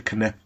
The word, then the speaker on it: Knep: The Knep. You got to pronounce the K.